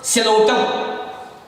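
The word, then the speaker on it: Psilotum: For example सिलोटम. सिलोटम पी जो है ये साइलेंट रहता है.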